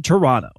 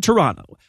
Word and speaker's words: Toronto: awful movies live in toronto god awful movies live in toronto apparently you're not supposed to pronounce the second t and locals get canadianly